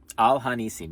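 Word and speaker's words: Al HaNissim: There's just a touch of the like it's mostly Al Hanasim. Yeah. Yeah, no, that makes sense. Yeah. Al Hanisim. Like that? Yeah. Okay. Al Hanisim. You might be watching the Al Hanisim video.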